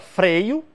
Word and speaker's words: freio: Ou seja, a palavra freio, qual é a sílaba tônica? O E. Freio. Então, a rima começa no EI.